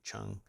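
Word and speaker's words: Cheung: c-h-e-u-n-g is the author rachel chung um i believe that's how it's pronounced so rachel if you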